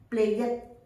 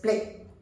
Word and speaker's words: played: Now I have heard people saying played. It's not the correct pronunciation, because YED has no sound, so it's just played.